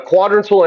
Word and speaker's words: quadrantal: A quadrantal angle. A quadrantal angle. The accent is on the A.